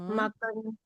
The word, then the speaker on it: maken: Mensen wandelen in de natuur, maken agak panjang sedikit A-nya.